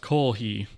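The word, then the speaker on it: koohii: I love coffee and kohi is sort of a misspelling of the japanized version for the word of coffee which is kohe but it's spelled k o o h i i I believe so it's pronounced Koh he in Japanese um and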